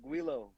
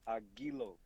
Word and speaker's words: Aguilo: It's not Aguilo. It's Aguilo. Oh, okay. So I'm putting too much in. My bad, y'all. Don't Americanize my shit, Archie.